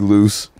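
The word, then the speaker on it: Luse: Oh, just Loose, yeah. Yeah, so okay. Lucien, just drop the E-N.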